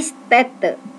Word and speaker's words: Städte: Die Städte. A diganti A umlaut. A umlaut dibacanya E.